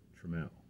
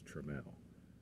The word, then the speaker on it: Trammell: father's name is Charles Trammell some people pronounce it Trammel but the true pronunciation is tremel um he is of